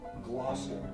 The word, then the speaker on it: Gloucester: It is pronounced Gloucester.